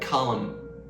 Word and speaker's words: column: There are also silent letters at the end of words like the N in autumn and column.